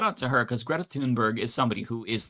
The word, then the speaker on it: Thunberg: um Greta Thunberg or Tunber. I think her name is Tunberg. I want to say that's how you pronounce it.